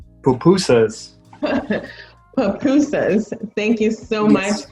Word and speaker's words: pupusas: Papuras? Did I pronounce it correctly? Pupusas.